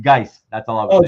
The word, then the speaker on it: Guice: It's Guice, by the way.